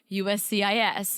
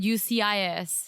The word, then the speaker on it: USCIS: when he actually said USCIS. I was listening closely this episode. One moment. He mumbles it. He just kind of strings all the letters together. He forgets one of the letters. He said UCIS.